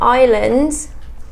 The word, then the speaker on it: islands: So within islands, we have the letter S that is silent, and again it's just